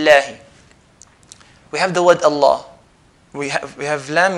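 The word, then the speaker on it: الله: and no bill I like pull Lala we pronouncing the word Allah heavy who a long why because the is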